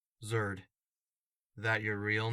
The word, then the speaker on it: Zerd: asked what's your name zerd that your real name no how do you spell it z e r d nerd with a z a malicious Rumble sounded